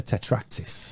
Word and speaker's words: tetractys: The tetractys.